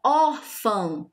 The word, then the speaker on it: órfã: Órfã, nós temos aqui também a sílaba tônica dela é a penúltima. Órfã. Duas sílabas somente. Última sílaba, fã. Lembrando que a gente sempre começa contando da última sílaba, tá? Última sílaba, fã. Penúltima sílaba, or, né?